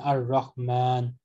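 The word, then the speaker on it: الرحمن: Then ar-Rahman, there is an alif between meem and noon, which is pronounced but not written.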